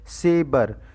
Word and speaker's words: Sber: है जिसका नाम है सेबर। हालांकि इसकी स्पेलिंग जो है वो SBER है, SAVER नहीं है, सेबर।